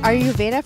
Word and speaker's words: Ayurveda: And I love the name of it, and I'm not sure if I'm going to pronounce this right, but are you Ayurveda for dogs?